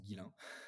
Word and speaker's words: Ghislain: Alors, juste une petite précision, mais c'est l'histoire de ma vie, j'ai un prénom qui est un peu compliqué, qui se prononce Guilin, que tu as bien prononcé au début.